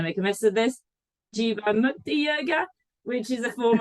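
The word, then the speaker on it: Jivamukti: Tell me more about Jiva Mukti. Is that how you say it? You got it right. Yeah, pretty much. It says Jiva like diva, and then Mukti like no other word.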